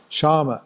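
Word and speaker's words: शम: means a control control of the mind huh shamama s sa M A pronounce shama Shad dama shama means controlling the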